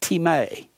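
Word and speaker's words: τιμή: greek is the word t-i-m-e it looks like time is pronounced team a it means to place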